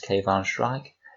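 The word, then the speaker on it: Kayvaan Shrike: the one unit datasheet in this book is pronounced cave on Schrag and I won't cover him in too much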